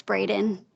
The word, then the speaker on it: Braden: Yes, but you did say my name wrong. It's Braden.